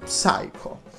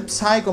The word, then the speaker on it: Psycho: personale di dvd naturalmente psycho che comunque poi ho scoperto che non si dice psycho ma si dice psycho quindi senza la pronuncia della p il gran capolavoro ve